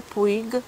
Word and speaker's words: Puig: Perfumy przynależały, wracając do XS, do grupy Puig, czy Puć, taka wymowa z hiszpańskiego, 94.